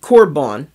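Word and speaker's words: קרבן: different in Hebrew and it's called well they pronounce it corbon amen which is something brought near to to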